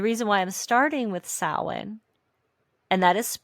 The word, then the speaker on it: Samhain: And the reason why I'm starting with Samhain, and that is it is spelled very different than how it's pronounced, because it is an old, let me make sure I have this right.